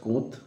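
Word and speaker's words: Comte: এরকম দুজন পাশ্চাত্য দার্শনিকের নাম হলো অগাস্ট কোঁৎ, আমি বানানটা বলে নিই, গয়াকার দন্তস্বয়ে ট, অগাস্ট কোঁৎ,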